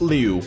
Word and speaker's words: Lu: Also, again, point out the fact that Glade of Lu, pronounced Glade of Liu, of course. Just, small difference, but nonetheless, I got it wrong again.